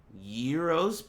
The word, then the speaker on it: gyro: Euros pack? I've never seen it spelled that way. Have you? Y-I-R-O-S? That must be a typo. It's pronounced Euro, but it's spelled gyro.